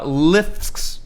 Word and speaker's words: LIFX: But no, with lifts. Yeah. Lifts. That's how you say it.